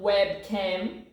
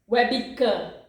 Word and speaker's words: webcam: in Portuguese use yes we're bigger it's not webcam it's webica Webby Webby because in Portuguese when we have